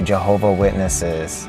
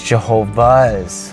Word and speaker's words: Jehovah's Witnesses: - don't they they they hate people when they say Jehovah Witnesses or Jehovah Witness its Jehovah's get that past Rafi get the ' right so I grew up